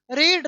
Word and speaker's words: read: कट, हिट हिट हिट, पुट पुट put, hurt hurt hurt, रीड रेड रेड। हाँ, उच्चारण अलग होगा, spelling वही होगी।